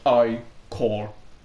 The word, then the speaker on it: ichor: That's pronounced I-core.